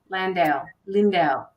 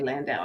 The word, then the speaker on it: Landau: in-depth reading courtesy of Lindau. I should say Landau. I always say that. Always say it wrong.